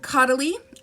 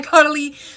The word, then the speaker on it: Caudalie: This is from Caudalie. I didn't know how to pronounce that for the longest time. This is by Caudalie, Vino sourced.